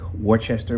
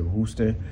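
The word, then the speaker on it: Worcester: to russa massachusetts which it looks like worchester but they pronounce it rooster albany new york and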